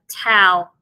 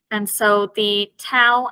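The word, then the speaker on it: ת: The tau as well is one of those letters that has two different pronunciations. With the dog-ash lene, it is pronounced t. And then without the dog-ash lene, it is pronounced as a th sound, f.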